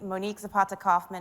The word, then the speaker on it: Monique Zapata Kaufman: hello hello welcome everyone um as mentioned and pronounced correctly which I appreciate Monique Zapata Kaufman is my name I'm A diversity and inclusion